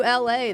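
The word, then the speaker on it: Elae: The same way you'd say the city of Los Angeles with a hard L.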